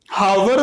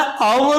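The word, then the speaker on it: hour: पहले इनका यूज करेंगे ऐसे ही हॉरर नहीं होता है हावर नहीं होता और होता है ठीक है और विनता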